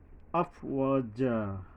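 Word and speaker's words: أفواجا: আফওয়াজা, আফওয়াজা, আফওয়াজা, ওয়া, এই ওয়ার পরে একালিপ টানতে হবে। তারপরে জিম আসছে, এখানে জিম উচ্চারণে সাবধান হতে হবে।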